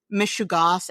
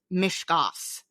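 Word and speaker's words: meshugas: let you know that you do not know how to pronounce mishugos, the Yiddish word for crazy. In that episode, you pronounced mishugos as mishkos. There are three syllables, not two. It will be quite a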